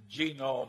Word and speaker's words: genome: mentioned that one book genome i have a hell of a time putting the accident on the first syllable but that is a